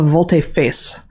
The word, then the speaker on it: volte-face: I looked up how to pronounce this. A volte-face.